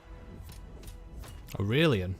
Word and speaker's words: Aurelian: Aurelian, that's how you pronounce it.